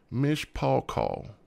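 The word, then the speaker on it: מִשְׁפָּחָה: of interesting isn't it it says Mish Paul call is the pronunciation Miss Parker so who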